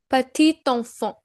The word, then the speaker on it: petit enfant: Here, the last consonant, this T in patit, is being read. Why so? Because the next word which is enfant, it begins with a vowel. So in that case, we pronounce the last consonant of the previous word.